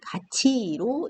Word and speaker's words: 같이: 쓰십니다 이렇게 쓰시면 안되요 쓰실 때는 같 1호 쓰시고 가기로 쓰시고 읽으실 때는 가치로 읽으셔야 되는겁니다 자 이런것들이 또 어떤